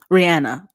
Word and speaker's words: Rihanna: Rihanna.